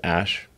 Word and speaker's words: Æ: letter X and then the AE is like pronounced ash yeah and then a